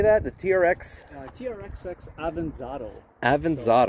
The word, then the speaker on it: Avanzato: Avanzato. So if you think of avocado. It's an avocado. Okay. It's a little avocado.